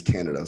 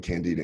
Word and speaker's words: Candida: So most of the I normally pronounce it as Canada, so I'm going to go back and forth between Candida and Canada.